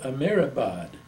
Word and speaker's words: Amirabad: mhm and it's called a it was called amirabad could you spell that for me yes a m i r